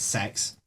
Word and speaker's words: CEX: just discovered the the the company cex pronounces their their company name as sex yes actually i don't